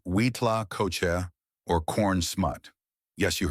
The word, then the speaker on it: huitlacoche: One particularly interesting truffle of the soil from the Mesoamerican context, though not a fungus, but a parasitic growth, is Huitlacocha, pronounced Huitlacocha or corn smut.